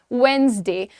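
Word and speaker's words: Wednesday: The pronunciation is वेडनेसडे।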